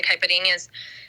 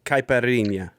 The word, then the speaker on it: caipirinha: me on this pronunciation caipirinha um so the nh a is kind of or nho it represents kind of like how we say something cute like puppy kitty anything that has that at